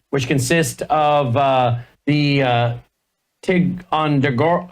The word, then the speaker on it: Ticonderoga: Carrier Strike Group 1, which consists of the Ticonderoga, how do you say that? Ticonderoga? Ticonderoga.